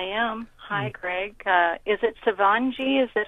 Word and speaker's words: Shivangi: Is it Shivangi? Is that how you say her name? Shivangi.